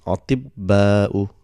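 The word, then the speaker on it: أطباء: So this ta, because it has got sukoon for pronunciation, it becomes ti, and ba will get a shadda. So it becomes atibba'u.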